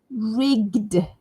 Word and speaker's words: rigged: Rigged, rigged, rigged. So make sure you say the d sound at the end.